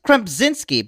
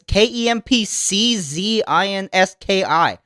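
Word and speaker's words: Kempczinski: It's like Chris Krempzinski, but it's Kempczynski.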